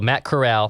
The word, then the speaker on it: Corral: We got a note about this, and I believe it said it's pronounced like Golden Corral. Corral. So Matt Corral.